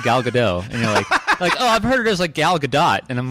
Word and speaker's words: Gal Gadot: works really well first of all gal it's gal gadot I actually on the way over here I